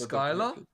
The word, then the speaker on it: Schuyler: It's pronounced Skylar? Wait, is it? Oh! Wait, really? So I'm correct. Wait, that's crazy. Is it really? Maybe that's why he named himself Sky, because Shyla is pronounced Skylar.